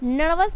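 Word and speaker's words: nervous: अब यहां पे देखिए आप इसे नर्वस भी बोल सकते हैं या फिर नवस भी बोल सकते हैं आर का उच्चारण आप कर भी सकते हैं और नहीं भी कर सकते तो नवस मींस होता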